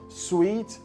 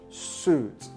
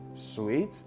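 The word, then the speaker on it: suite: It is pronounced the same as this word, sweet, sweet, sweet. So that's a difference. It is sweet and not suit. Sweet and not suit.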